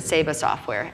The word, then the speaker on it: Saba Software: And then you went to, I think you pronounce it Saba Software, S-A-B-A.